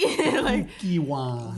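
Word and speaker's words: Kukkiwon: It's just I just heard it's cookie something. So cookie. Kukiwon.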